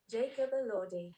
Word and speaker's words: Elordi: Jacob Elordi. Jacob Elordi. See, I can say it, but I have to think about it. Jacob Elordi.